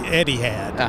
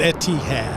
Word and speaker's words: Etihad: it as an American it's hard not to say Eddie had okay but it's Etihad okay yeah so you know